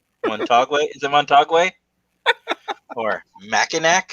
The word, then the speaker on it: Mackinac: Or Mackinac? It's mortgage. Mackinac.